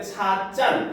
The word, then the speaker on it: 찻잔: 그래서 차잔인데 이제 발음할 때 차짠 이렇게 발음하니까 시옷을 넣어서 찻잔으로 씁니다.